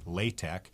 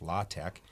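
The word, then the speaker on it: LaTeX: done in a typesetting language called lay tech sometimes pronounced la Tech it's la te ex okay and that's that's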